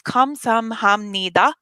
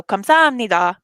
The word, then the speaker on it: 감사합니다: If you can say these words like a roller coaster, you go up the roller coaster and then back down. So 감사합니다 is how the pronunciation would go.